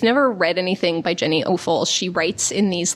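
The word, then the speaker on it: Offill: So that is my recommendation, Weather by Jenny Offal or Awful. This is the podcast of alternate pronunciations.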